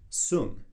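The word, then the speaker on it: song: So this is really the concept of what they call in Tai Chi, Sung, S-O-N-G. Sometimes it's spelled S-U-N-G, but Sung is this concept of sinking the chi being your life force, your energy.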